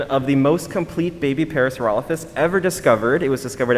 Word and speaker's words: parasaurolophus: a juvenile parasophalorus okay people tell me i say it wrong i say paracerophus you could say parasaurolophus honestly if you say it with a lot of gusto no one's going to tell you you're wrong but so everyone say hi to